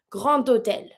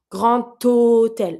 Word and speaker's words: grand hôtel: It's a D that I'm going to pronounce with my O. I'm going to pronounce it like a T sound. Grand hôtel. I'm not saying grand hôtel. I'm saying grand hôtel. So every time you think with a D, you make the T sound.